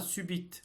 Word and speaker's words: subite: pour de brusques convulsions attention à subite on prononce encore le T mais il y a sûrement une autre consonne non prononcée du fait du nombre